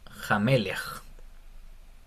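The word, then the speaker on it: מֶלֶךְ: tiene el Sheba pero no tiene como un dagesh, entonces sería Jamelech, como con Jamelech.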